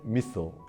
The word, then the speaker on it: missile: 제대로 발음을 하면 Intercontinental Ballistic Missile, 미사일이 아니고 Missile 이라고 발음해야 알아듣습니다.